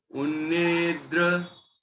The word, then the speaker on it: उन्निद्र: उन्निद्र, देखो उन निद्र, ये क्या लिखा है, उन, है ना, उन, फिर निद्र, यहाँ बिंदी नहीं लगी है। कुछ बच्चे या कुछ लोग निंद्र पढ़ने लगते हैं, यहाँ बिंदी होती